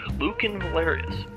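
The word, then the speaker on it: Lucan Valerius: from Luke and Valerius Luke and pillars not Lucent I was pronouncing that wrong in the entire time Luke and Valerius I have the golden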